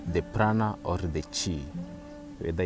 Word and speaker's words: chi: It just depends with your pronunciation, whether I say chi or shai. It's just chi.